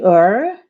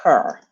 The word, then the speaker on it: her: Would you say "er"? No, we don't say "er." Right? We say her. If it's a she, we always pronounce the H.